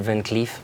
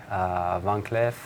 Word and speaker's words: Van Cleef & Arpels: permanent left yes but with the double e we'll probably pronounce it Van Cleef monkey leaf okay and what we've heard throughout the stores and in the industry is VCA van cleff on Cleef and Arpels